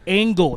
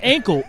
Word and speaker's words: angle: And I want to make sure I pronounce that angle, not ankle, angle breaker.